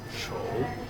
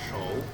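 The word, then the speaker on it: 手: Hemos visto el carácter de mano, cómo se pronuncia mano en chino. Muy bien. Show. Ahí está, ¿no? Ahí lo estoy colocando en pantalla. Show.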